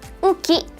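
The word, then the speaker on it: 雨季: Oke, ini bacanya adalah uki.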